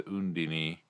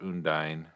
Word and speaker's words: Undine: coffee quills it's spelt undine uh because that it's you know d-i-n-e uh is usually translated as one uh one syllable and so if it